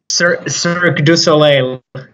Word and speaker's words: Cirque du Soleil: So before we get into, did I say that right, by the way, Cirque du Soleil? I've always wanted to practice with someone who knows how to say it. Cirque du Soleil.